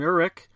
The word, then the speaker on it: Uhrich: of my local wrestling talents, and that's Uhrich. how you doing? I'm doing pretty good, man. And I gotta correct you because nobody can say it, Uhrich.